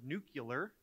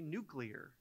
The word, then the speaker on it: nuclear: And even though we've had a number of presidents pronounce the word nuclear, it's really nuclear.